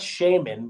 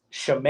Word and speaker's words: Shemayim: Yeah, it's like the Pokemon, but not really spelled the same. It's not Shaman, but it's Shemayim.